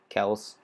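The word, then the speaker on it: Kelce: him very good jason kelsey kels i guess as that's apparently travis kelsey said travis kels said apparently that's how you say it now um but jason kelsey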